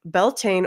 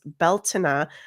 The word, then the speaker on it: Beltane: So, we're going to get into the history, spirituality, and rituals of what the heck Beltaine or how it's traditionally pronounced in the Celtic way is Beltina.